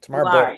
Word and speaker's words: Tamar: Thank you, Tamar, for doing this. I pronounced your name right, Tamar. Right, Tamar? You are 100%.